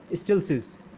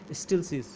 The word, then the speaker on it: Stieltjes: Okay, it's pronunciation is something like स्टिल्सिस, या आप steel चीज़, okay, अगर आप इसे थोड़ा फास्टली बोलें स्टिल्सिस ट्रांसफॉर्म इसे कहा जाता है।